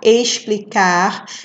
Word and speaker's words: explicar: no livro ó explicar explicar é com x mas tem som de s então você vai colocar